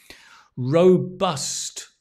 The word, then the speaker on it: robust: Robust. Great word. Row, like row, a boat. Bust, like a statue. Robust. Not robust, but robust.